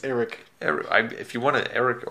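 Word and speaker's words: Erik: I think it's pronounced Eric. I mean, it's a Hungarian. Eric. I think you're being racist. I'm not being racist by pronouncing something the way it's supposed to be pronounced.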